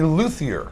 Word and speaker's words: luthier: dear friend Mr Riley yielding who is a luier is that right that's right did I pronounce that right I said it right hey